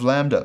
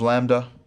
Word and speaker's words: lambda: In both pronunciation systems, this is our L sound, like the English letter L, as pronounced in leg, L, leg.